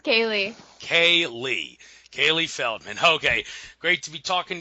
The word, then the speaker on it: Caileigh Feldman: it's pronounced Kaye Kaye Kaylee Feldman okay great to be talking to you uh